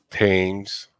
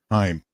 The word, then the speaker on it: Thyme: Thames. How do you pronounce it? Thames? Thames? Time.